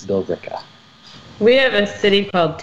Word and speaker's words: Billerica: like that so it's it's spelled Billerica but yeah you pretty much just drop that in it's bill deca we have a city